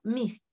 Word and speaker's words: missed: Missed, el pasado, missed, missed, porque la S cuesta pronunciarla cuando va una D después. Traten de pronunciar un miss, una S y después una D. Missed. Missed. Cuesta. Entonces, para hacerlo más simple, se hace con una T.